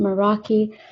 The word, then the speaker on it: Meraki: We'll next go to commenter Meraki. If I'm pronouncing that correctly, you have 3 minutes. Hello, can you hear me? Yes. Okay, hi, yes, that is my name, Meraki.